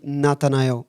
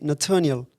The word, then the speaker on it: Natanael: Por exemplo, se eu for nos Estados Unidos, eu tenho um amigo meu, americano, e ele não me chama de Nathanael, ele me chama de Nathaniel.